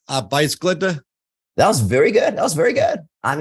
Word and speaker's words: Arbejdsglæde: So I should say that Danish is one of the hardest languages in the world to pronounce. In Danish, it goes Arbejdsglæde.